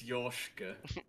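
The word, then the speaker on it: Yorshka: ted i'm not kidding it's spelt y-o-r-k-s-h-a it's it's yoshika that's yorkshire but i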